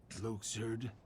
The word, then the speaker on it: Luxord: Luxord. Still hate that it's pronounced Luxord and not Luxord, because Luxord I know, just that throws feels me off right.